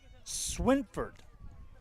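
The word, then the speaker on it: Schrimfort: glory will hit here in the third inning pronunciation correction here casey swinford the pitcher for the glory we had coach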